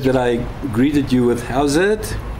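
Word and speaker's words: howzit: I greeted you with "How's it?" Now that's a typical South African lingo, which is obviously a imitation of "How is it?" Although we spell it then H-O-W-Z-I-T.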